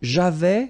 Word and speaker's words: j'avais: So, j'avais, final S not pronounced.